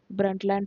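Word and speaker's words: Brundtland: the term was फ़ेमसली डिफ़ाइंड इन द 1987 broad ब्रिंट sorry the name is unable I am sorry ब्लैंड report the T silent ब्रंटलैंड report which means our common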